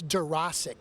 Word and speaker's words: Dworaczyk: last names that you really can't sound it out, and if you try, you're going to mess up.